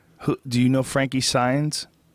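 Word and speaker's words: Saenz: thing you right who do you know Frankie signs s a e n z how do you pronounce it signs signs s SS SS it's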